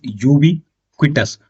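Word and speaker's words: ubiquitous: चलिए 25वें नंबर का हमारा वर्ड है दोस्तों दैट इज यूबी क्विटस। यूबी क्विटस, ठीक है, स्पेलिंग इसकी कुछ इस प्रकार है, UBI QUITAS, UITOUS, यूबीक्विटस, ठीक है।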